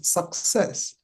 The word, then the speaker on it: success: and she did the same thing with succinct and success. The C in between those words is very important.